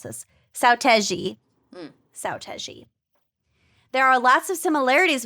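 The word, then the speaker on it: Seo Taiji: oh God, I can never remember how to pronounce this. Saotaiji. Saotaiji.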